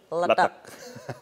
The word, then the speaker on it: letek: yakni berbahan organik yaitu mie letek bacanya harus seperti itu ya letek oke us saya mengunjungi